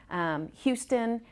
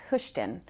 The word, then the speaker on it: Hoschton: that a lot some people call us Hoschton houston but it is pronounced hushed in the city of question is experiencing rapid growth